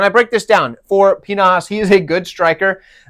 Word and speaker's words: Pinas: We have Damian Pinas. Yes, Pinas is how you say that.